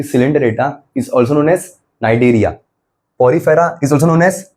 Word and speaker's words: Cnidaria: ओ silent है और नाइरिया में सी साइलेंट है। सिलेंटेटरेटा नाइडेरिया।